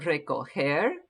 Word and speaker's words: recoger: All right, notice that recoger, the G in here is a soft G. It almost sounds like an H, right?